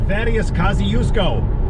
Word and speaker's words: Thaddeus Kosciuszko: And to pronounce it, it's called the Thaddeus Kosciuszko Bridge.